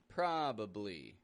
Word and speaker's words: probably: units of sound probably we can hear that that first syllable is stressed pra pra it's getting a short o sound pra the second syllable